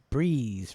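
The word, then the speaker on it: Bryze: And it's spelled B-R-Y-Z-E. Breeze, right? Is that Breeze, Tracy?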